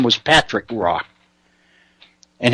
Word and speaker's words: Roy: his name was Patrick Rock and his last name was spelled ro y and it was pronounced wah Patrick walk he is